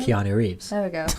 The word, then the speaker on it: Keanu Reeves: Keanu Reeves. There we go. I always say Canara. There's not even an R in there.